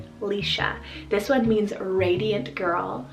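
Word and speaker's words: Laoise: name here we have the name alicia so l-a-o-i-s-e lisha this one means radiant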